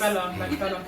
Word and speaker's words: Fela: Fela. Okay, and Pronounce it Fela.